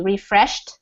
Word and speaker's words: refreshed: So the pronunciation for this ed ending is more like a T, refreshed, which means he felt better.